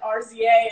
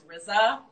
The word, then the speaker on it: RZA: I literally pronounced it RZA and he was like, hey Erin, it's RZA.